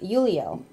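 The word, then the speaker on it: Ulliel: Gaspard, I cannot pronounce his last name. It's U-L-L-I-E-L. Gillian? Gaspard? Uliel. Uliel.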